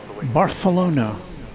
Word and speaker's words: Barcelona: Texas Barthalona is how they say it over on the Iberian Peninsula.